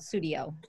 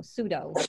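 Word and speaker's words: Tsuido: Well, I'm not saying it right, but I call it Sudio. T-S-U-I-D-O. Sudo.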